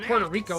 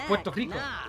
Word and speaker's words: Puerto Rico: Because like it's not fun to pronounce it Puerto Valor. It's Puerto Valor. Hey, it's not Puerto Rico. It's Puerto Rico.